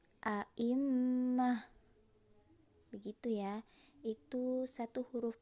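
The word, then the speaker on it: أئمة: Kalau kita mau berhenti, misalnya mau mengambil nafas, jadi tidak dibaca a'immata, bukan seperti itu cara membacanya, tapi a'immah.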